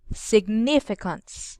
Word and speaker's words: significance: that Israel as signe significance the post must be on the second syllable can you do it